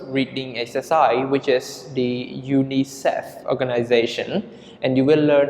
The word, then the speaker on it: UNICEF: We pronounce it Unicef.